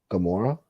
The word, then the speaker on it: Camorra: That is the Napolitan pronunciation of Camorra. Gamora?